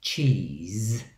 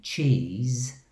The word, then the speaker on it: cheese: space of time so the s in cheese is pronounced z and the s on